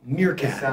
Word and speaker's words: Meerkat: it out all right is it pronounced mircat mircat yeah it's like the animal like Timone from tone